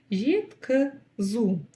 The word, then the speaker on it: жеткізу: Здесь буква чуть мягче, чем буква И, и точно так же коротко произносится. Нечто среднее между буквами И и И.